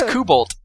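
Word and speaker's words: Kobalt: can get behind wow I just looked up the German pronunciation of cobalt and it is it is not anything like what either of us was saying it's KUB pretty close it's kuolt freaking stress timed languages however I will now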